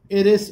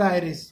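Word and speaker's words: iris: Flashy screen behind the cornea, cornea के पीछे, this इज called आयरिस, इसको कहते हैं इरिस और आयरिस, what ever you want to pronounce आयरिस।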